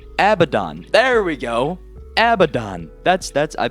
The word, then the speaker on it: Abaddon: So, that doesn't say abandoned, alright? That says Abaddon.